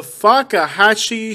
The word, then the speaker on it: Fakahatchee: The Fakahatchee Strand.